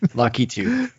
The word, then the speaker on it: Lakitu: sure he's more complex i'm actually not sure if you pronounce the key2 or like lockitu oh it's like youtube lucky too cloud koopa i feel